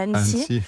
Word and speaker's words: Annecy: Je fais juste une petite rectification, je suis née à Annecy. Oui, Annecy, ouais, oui. Nancy a l'air d'être une très jolie ville aussi. Je l'ai prononcé trop vite en fait, parce que c'est pas mal.